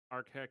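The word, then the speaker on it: Arakheck: Uh, and then ARK is A R A K H E C K, but it's pronounced A R K H E C K.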